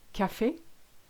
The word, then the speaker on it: café: So an acute, which is this way around, makes it sound E. Café, cinéma, marié.